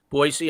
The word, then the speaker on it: Boise: We pull an attorney right out of the thin blue air from Boise, not with a Z, but with an S. Boise, Idaho is a proper pronunciation.